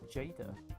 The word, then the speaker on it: Jada: It's pronounced Jada.